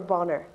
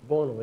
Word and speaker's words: Bonner: You know, if you're Boner, are you Boner or Bonner? Well, Boner is what the Donegal pronunciation is. That is absolutely true. That's what they call it up in the north.